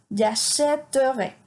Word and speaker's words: j'achèterai: Entonces tenemos j'achèterai. Si no le pusiéramos este acento grave, la pronunciación sería muy complicada. Sería j'achèterai, y eso no existe.